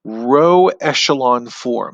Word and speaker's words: row echelon form: me circle it i'll circle it in black row echelon form that's how you pronounce that and the row echelon form is